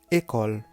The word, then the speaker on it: école: Le E dans école à la fin, ça ne se prononce pas seul. OK? On dit école, mais non école.